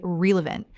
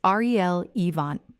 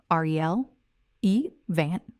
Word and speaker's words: relevant: re-va-lant, or even to swap the letters and say relevant, as if the E and the A have switched positions. This last one is a very, very common spelling error, as well as a pronunciation error. The correct form is R-E-L-evant. 3 syllables, R-E-L, E-vant, R-E-L-evant. The stress is on the first syllable.